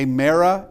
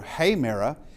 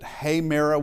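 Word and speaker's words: ἡμέρα: And uh you'll wonder why I pronounced it hayra. We'll get to that in a bit. Uh because there's something there's something there telling me that uh instead of a merra with the ad aa sound, it's heyra.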